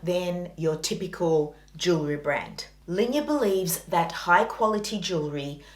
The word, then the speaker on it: Linjer: So Linjer is actually spelled Linjer, but it's pronounced Linjer, and in Norwegian it means lines, which is a reference to the brand's minimal and simple designs.